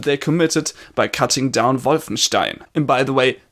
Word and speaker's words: Wolfenstein: committed by cutting down violence teen and by the way that is the correct pronunciation not Wolfenstein please the Americans stop crippling a beautiful German language it's not emulates Mulla me and mr.